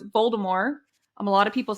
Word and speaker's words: Voldemort: i was thinking about voldemort i think i say it with a t but a very very soft t it's not a silent t but it's like okay